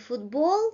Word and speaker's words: футбол: So, сумка, масло, овощ. The first syllable is stressed. And football, well, the second syllable is stressed.